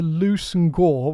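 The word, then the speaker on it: Leveson-Gower: Well, so it's the Loose and Gore, which is pronounced Leverson Gower, the family that last owned it.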